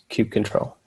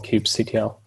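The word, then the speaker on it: kubectl: the docket install and cube control or cube CTL as it was sometimes pronounced I'm also going to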